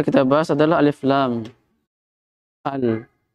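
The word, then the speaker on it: ال: Al. Alif lam bacanya al.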